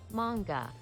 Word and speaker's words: manga: just gotta look up manga i'm not saying it wrong this whole time it's manga i'm so sorry please